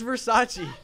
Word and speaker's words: Versace: what is kind of cringy though when you mispronounce versace it's it's Versace it's funny when we're talking about the same